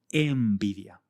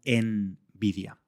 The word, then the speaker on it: envidia: Imagina que quieres decir envidia. En la escritura vemos una n, pero al pronunciarla la n se convierte en una m por influencia del sonido siguiente, que es una b. Decimos envidia, no envidia.